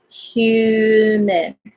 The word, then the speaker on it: human: Human. So this is H, but it has like Y sound. So it's hue, not who. It's hue. And schwa, so it's human.